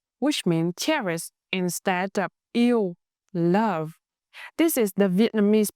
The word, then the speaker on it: yêu: In Northern dialect, yêu is pronounced very clear. It's spelled with three letters, e, and u. When you blend them, it sounds like ew.